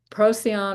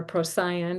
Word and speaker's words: Procyon: And so there's in this winter triangle, there is Sirius, Procyon or Procyon, depending on how you want to pronounce that, and Betelgeuse.